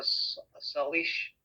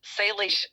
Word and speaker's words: Salish: We're exploring the creation of a Salish. I don't know if I'm pronouncing it. Salish Sea.